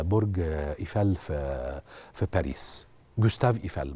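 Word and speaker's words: Gustave Eiffel: ايفال في في باريس جوستاف ايفال بنطقها مظبوط كده الجماعه اللي بيتكلموا فرنساوي صح كده جوستاف ايفال طيب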